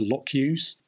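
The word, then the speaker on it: LCOCU: go um you had landing craft obstacle clearance units uh pronounced lock-use these guys were sort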